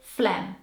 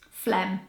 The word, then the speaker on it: phlegm: in the dictionary so this word is actually quite easy to pronounce if you just take out the letter G so you pronounce it phlegm phlegm that G in the